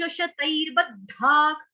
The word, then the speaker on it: शतैर्बद्धाः: आशा पाश शतैर्बद्धाक, विसर्ग का उच्चारण हो रहा है ख से, क्यों, क्योंकि आगे क आया है इसलिए।